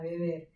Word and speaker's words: Weber: Acordaos siempre, esto yo siempre lo digo con relación a Weber, acordaos de que la W se pronuncia como B en alemán y de manera diferente en inglés, como el inglés el inglés tiene tantísima presencia, Sí.